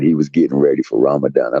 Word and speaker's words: Ramadan: but you should have told him it was pronounced ramadine yeah you heard that frequent fly say it right n you know it's really Ramadan that's my God though do that impersonation again